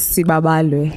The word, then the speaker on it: Siba: Please pronounce it correctly. My name is Siba.